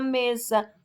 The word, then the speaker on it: mesa: Exemplo, a palavra mesa. O me é a sílaba tônica, por quê? Porque é pronunciada com maior intensidade.